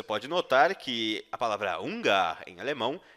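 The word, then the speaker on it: Hunger: a palavrinha duas duas preste atenção a sua pronúncia e a palavra fome dizemos fuga você pode notar que a palavra unga em alemão é semelhante a palavra fome no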